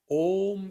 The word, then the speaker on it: om: chambu of your mouth so the O gets modified it's called oh then the last syllable is ma try to say ma without touching the lips right so the complete language is included between a swara the vowel and mo the last consonant therefore om is